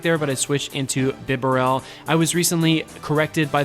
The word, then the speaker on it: Bibarel: bit of lag there but I switched into bibarel I was recently corrected by the one the only the highly respected and awesome trainer best west about my beret I'll print pronunciation it is B barrel that is the correct way to pronounce it